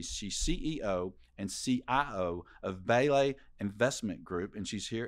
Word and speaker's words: Belay: it's Eliza Bailey she's CEO and CIO of ballet Investment Group and she's here in Studio One thanks for joining us Chuck thanks for having me Michael and am I saying it right belay Investment Group that's right now you need to